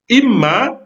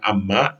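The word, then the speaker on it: إمّا: Imma itu membacanya imma bukan amma.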